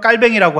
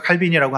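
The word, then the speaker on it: Calvin: 프랑스 발음으로는 깔뱅이라고 하기도 하는데요. 영어 발음으로는 이제 우리가 칼빈이라고 합니다.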